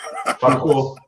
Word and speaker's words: Tuchel: Tuchel Takel? How do you pronounce his name? The guy I know used to manage Dortmund. Tuchel.